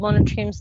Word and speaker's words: monotremes: Only one group called monotremes lay eggs.